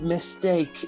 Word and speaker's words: M Steak: It's pronounced mistake.